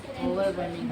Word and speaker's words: overwhelming: Overwhelming. हैं? वो silent है.